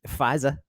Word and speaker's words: Pfizer: the big p um fisa uh which is silent it's a silent p yes it is unfortunately